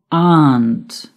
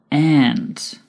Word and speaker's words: aunt: If your mother has a sister, she is your aunt or aunt. The pronunciation of aunt is British English. Aunt is American English.